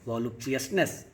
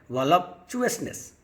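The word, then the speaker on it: voluptuousness: बौद्धिक विलासिताओं में, physical and intellectual वॉल्यूप्चुअसनेस में, वॉल्यूप्चुअसनेस, इसका उच्चारण सही करें, वॉल्यूप्चुअसनेस, विलासिताओं में।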